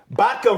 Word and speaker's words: Bhatka: BHATKA rhymes with Vodka.